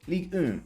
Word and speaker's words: Ligue 1: That's how we pronounce it. Ligue 1. See? Bit of a wee French language going on right there.